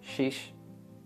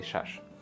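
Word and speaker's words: шаш: One, yak, du, se, chor, panj, shash. But here, locals say shish. You better say shash.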